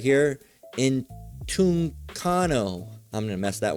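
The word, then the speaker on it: ἐντυγχάνω: Entugchano. I'm going to mess that one up. Let's hear it. Strong's G1793. Entugchano. Entugchano. Entugchano.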